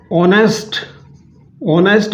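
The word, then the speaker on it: honest: इसी तरह से देखिए दोस्तों, अगर हमें ऑनेस्ट मैन, ईमानदार आदमी, ईमानदार आदमी, यानी ईमानदार आदमी को एक बताना है तो क्या हो जाएगा, एन आर एन ऑनेस्ट मैन।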